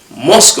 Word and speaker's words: Musk: Musk rhymes with mosque, which is a worship place for Muslims, okay?